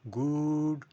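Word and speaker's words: good: কিন্তু যখন আমরা উচ্চারণ করব তখন এখানে গুড বলব। গুড বলবো না। গুড শর্ট করে দিচ্ছি।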